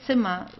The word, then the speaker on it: Zimmer: You can just say Zimmer. So it would be just like an A at the end, Zimmer.